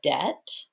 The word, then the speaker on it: debt: don't hear the b the b is silent but the t makes a sound like when you owe um a company or person money it's called having a debt which is spelled like this d e b t and we don't have a b sound in that word but we do have